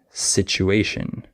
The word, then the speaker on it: situation: easy Z defix also certain letter combinations like the TU can be pronounced CH sometimes like situation and du can be